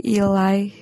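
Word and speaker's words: Ily: juga baru tahu sih jadi cara baca itu bukan Ili tapi ilai karena biasanya aku juga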